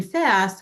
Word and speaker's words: FSST: So I'd like to introduce FSST , which is what has prompted this current theory.